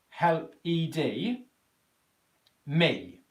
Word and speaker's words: helped: So what have we got here is H-E-L-P, help, E-D, me. So what we've got in the phonetic spelling of this word is the P, the T, the ED ending here is just simply pronounced as a T, and then we've got